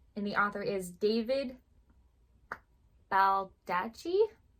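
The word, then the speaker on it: Baldacci: And the author is David Baldachi. I think double C's is usually a ch sound, so I hope I'm pronouncing that correctly.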